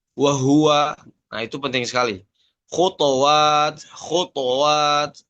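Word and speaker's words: وهو: Contohnya misalkan pengucapan kata wahua, ya, wahua. Misalkan kita hanya bacanya tidak jelas dhammahnya pada huruf H, ya, maka terdengar seperti bagaimana? Wahwa, ya.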